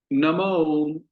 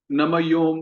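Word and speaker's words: नमो ॐ: नमो ओम विष्णुपादाय कृष्णप्रेष्ठाय भूतले श्रीमते भक्ति वेदांत स्वामिन्निति नामिने। तो प्रायः जो गलत उच्चारण हम करते हैं, कुछ भक्त नमयोम कह देते हैं, नमयोम।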